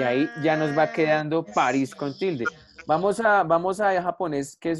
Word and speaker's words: París: París, lo divido en sílabas, el acento está en gris, París, y aquí cumple la